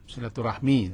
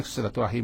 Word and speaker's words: silaturahim: bersatu namulanya Silah nah di orang awak baca silaturahim silaturahmi Awak ini kan bacanya silaturahim ya silaturahim Ana rahim rahimku kandungan